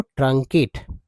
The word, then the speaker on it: truncate: इसका सही उच्चारण देखिए, इसका सही उच्चारण है दोस्तों ट्रंकेट, ट्रंकेट।